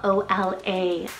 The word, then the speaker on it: Ola: meaning estate ruler then I have Ola spell o l a Ola now this one is a Norwegian and